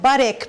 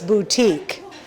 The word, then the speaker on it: butik: call a boutique and it's spelt b-u-t-i-k it's not buttock people it's boutique so that's how we spell boutique in sweden so the boutique was